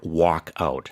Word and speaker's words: walkout: 발음이. It can sound similar. Yeah, work and walk. Yeah, work out, walk out.